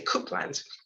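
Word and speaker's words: Coupland: by the name of douglas copeland or you might say cookland based on how it's spelled why was it named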